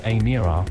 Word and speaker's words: Emira: The Emira, pronounced Emira, will eventually be priced